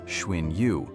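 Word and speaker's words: Xun Yu: It came from within, from his closest friend, Shuin Yu, pronounced Schwin Yu, the strategist who had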